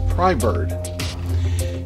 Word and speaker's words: Prybird: and what i picked up was the gerber pry bird that's the way it's pronounced it's pry bird now the difference between these two this is